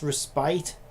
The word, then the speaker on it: respite: I keep hearing it pronounced respite and I'm like but it's respit and most people are pronouncing it respite but I heard somebody in Genjin recently I can't remember who it was anyway they pronounced it respit and I'm like yeah